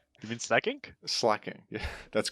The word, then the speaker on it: Slaking: Slaking. Yeah, that's correct. He pronounces it Slaking, which I don't know about. No. I don't know about that. That doesn't make sense. It's slack off. It's like from slacking.